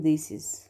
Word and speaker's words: indices: ICES، يعني appendix هتبقى appendices appendices، index هتبقى indices. ماشي. القاعدة التالتة بتقول ان لو نهايته IS هنغير ال IS ب ES وهننطق نفس النطق، بس هتفرق معانا الكتابة.